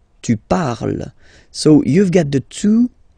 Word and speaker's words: parles: So you've got the two first forms, you pronounce them the same way. You write them differently, of course, because you've got here, and then you've got and s, okay, but then phonetically, they are the same.